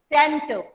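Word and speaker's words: scent: Next word सेंट. इश्मिता, सेंट. एस सेंट. सी इज साइलेंट.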